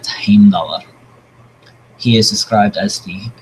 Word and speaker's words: Heimdallr: So, for instance, Heimdallr, the guardian at the Bifrost leading into Asgard, is who the Marvel version of pronunciation, if you're not following me, is Heimdall. But Heimdallr.